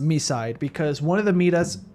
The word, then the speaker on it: MiSide: By the way, we we found confirmation from the English dub that the game is pronounced Misside because one of the meetas say Misside.